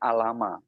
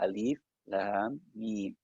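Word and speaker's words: الم: Ada yang tidak tahu mungkin membacanya dikiranya alama. Padahal itu alif, huruf alif kita baca alif, huruf lam, dan huruf mim. Maka alif, lam, mim.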